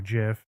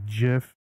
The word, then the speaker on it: GIF: GIF cuz it's a G and G is a g sound but a lot of people say GIF with a J sound I whatever doesn't matter it is you know however you want to pronounce it it's up to you I pronounce it one